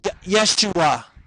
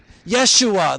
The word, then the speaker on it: Yeshua: Joshua, as spoken in the original Hebrew language of the Old Testament, is pronounced Yeshua. Yeshua, that's what they would have called him.